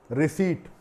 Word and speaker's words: receipt: रिसीट, RECEIPT, यहाँ पर टी जो है वो P साइलेंट है, रिसीट कहा जाएगा और इसका अर्थ होता है रसीद।